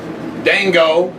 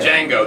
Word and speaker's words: Django: And Dango, the J is silent, is out. I can't wait. I thought the D is silent. Is it the D? Is it Django? Django. Django. The D is silent, excuse me.